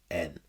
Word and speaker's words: Rocklynne: Rocklynne is the pen name for Ross Rocklynne, Rocklin. A bit weird to have your pen name as being a homophone for your actual name, but I'm not going to question it any longer.